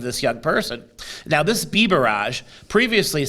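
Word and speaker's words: Biberaj: Commonwealth attorney Bhuta Biraj, Bhuta Bibaraj, I believe is how it's pronounced.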